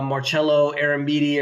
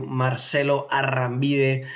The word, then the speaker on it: Marcelo Arambide: And if you're listening on the podcast, just look up Marcelo Arambide, or if you pronounce it in Spanish like I do, Marcelo Arambide.